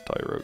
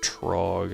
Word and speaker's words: Tyrogue: Well, not all of them because Tyrogue exists. I had a friend once that pronounced that Trog and I was like, "What?"